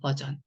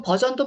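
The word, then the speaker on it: version: 자, 그래서 이 단어는 그냥 자, 약간의 리을 발음이 있죠. 리을, R의 소리는 약간의 리을 소리만 하셔라. 요런 뜻이고요. 버전이에요, 버전. 여러분, 버전도 많이 들어보신 소리잖아요.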